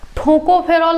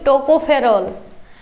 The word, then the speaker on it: टोकोफेरॉल: ठोकोफेरॉल नहीं, टोकोफेरॉल।